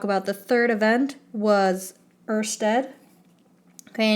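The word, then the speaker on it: Ørsted: the third event was Earth's Ted okay I know it's not spelled the way it's pronounced but in our little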